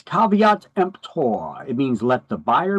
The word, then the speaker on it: caveat emptor: So caveat emptor is how you pronounce that. You could add that to your definition list. A little more Latin. It's not pronounced kvtemper. It's caveat emptor.